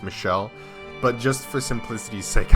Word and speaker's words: Michel: of you guys said it was still technically pronounced Michelle but just for simplicity's sake I'm going to say Michael so for the